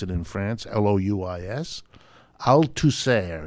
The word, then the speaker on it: Althusser: Althusser is how they pronounce it, A-L-T-H-U-S-S-E-R. And not only was it